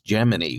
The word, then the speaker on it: Gemini: Yes, NASA back in the day, the pronunciation was Gemini with a long E.